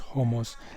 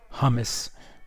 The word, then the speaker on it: hummus: ganoush is it's like homos um yes it's pronounced homos not hummus for those of you uh that know that